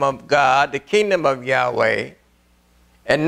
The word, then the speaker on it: Yahweh: a title we use but his name is Yahweh y a h w e h and and